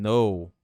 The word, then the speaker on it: know: Do you think they can know that? Do you think they can know that? Aqui, ó, o K do know não vai ser pronunciado, muita gente já sabe.